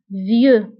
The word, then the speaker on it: vieux: بالنسبة لفيو كنكتبوها بإكس في آخر الكلمة لكنها لا تنطق vieux.